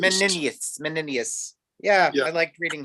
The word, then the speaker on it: Menenius: Menenius is how I usually hear it pronounced. Menenius.